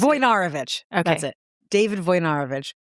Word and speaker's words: Wojnarowicz: I don't think that's how you pronounce it. Wojnarowicz.